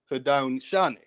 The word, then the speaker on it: Haudenosaunee: We have Iroquois, and they say that the name for Iroquois is, they'll pronounce it Haudenosaunee.